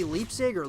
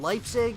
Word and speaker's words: Leipzig: the WCS in Leipzig I always say Leipziger Leipzig and I always always say it wrong guys Leipzig but that being said